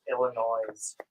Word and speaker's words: Illinois: yet, I So believe it's pronounced Illinois, Illinois. just like it's pronounced Arkansas. Noise.